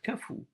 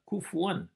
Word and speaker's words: كفو: نفس القاعده على قراءه كفو على وزن فعول كما تلفظ في اللهجات الشاميه وليس وليس وليس كفوا وفهمت ولم يكن له